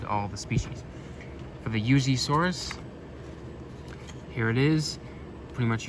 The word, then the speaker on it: Yuxisaurus: And the way it's pronounced is the X is supposed to make like like a Z sound. So it would be Yuzaurus.